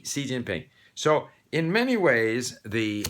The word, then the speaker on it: Xi Jinping: so that's why uh when we see xi jinping for example the president of china most people can't really connect the x i with c kind of unfortunate uh-huh anyway and and of course i'll get into this later people want to put their sound everywhere they call him g jinping it's c xi jinping so in many ways